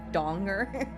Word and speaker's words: Danger: from Brooklyn 99 except his his name is actually pronounced Jack Donger and it and it's